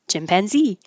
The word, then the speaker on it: chimpanzee: tired anesthetist anesthetist chimpanzee I like words with stress at the end chimpanzee chauvinism um I just